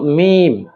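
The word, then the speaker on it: ميم: এই মিম উচ্চারণ অত্যন্ত সহজ। আমরা যেমন বা উচ্চারণ করেছিলাম দুই ঠোট হতে। ঠিক একইভাবে এই মিম দুই ঠোট হতেই উচ্চারিত হবে। যেমন মিম ঠোট গোল হবে না। বরং স্বাভাবিক থাকবে।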